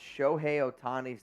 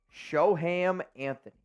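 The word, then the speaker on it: Shohei Ohtani: doing this game and he just pronounced shoh otani's name as sham Anthony I'm not [ __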